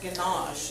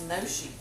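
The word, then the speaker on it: gnocchi: And I was pronouncing it ganache until I went to Google. It's Noshi with a silent G.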